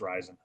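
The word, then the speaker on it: Rizin: I don't know if it's rising. I say risen. It's probably wrong. I think it's actually supposed to be pronounced rising.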